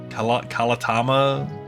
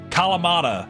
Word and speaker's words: Kalamata: I couldn't remember how to pronounce the Kalatama olives. I can never remember how to pronounce that word unless it's sitting in front of me. Kalamata.